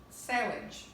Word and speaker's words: sewage: It's not sewage, or it's not sewage, or not sewage. It's sewage.